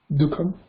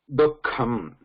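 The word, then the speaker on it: दुःखम्: The pronunciation is not dukham. There is a visarga in between, and that visarga has to be, because it is a single word, has to be pronounced like half visarga. Dukh, dukh, dukham, dukham. Not as a separate visarga also, like dukham, not like that. Dukham.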